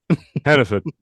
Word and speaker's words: Hannaford: Hannaford. If you're from Maine, you pronounce it like that. It's Hannaford, but it's Hannaford.